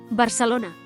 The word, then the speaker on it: Barcelona: While Catalan has quite a few dialects, the standard Catalan in Barcelona pronounces unaccented a and e as schwa and unaccented o as u, so Barcelona is pronounced as Barcelona, and rabbit is pronounced